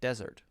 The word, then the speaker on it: desert: However, because desert and dessert, tasty, yummy food could be used in the same grammar, then we have to have different pronunciation.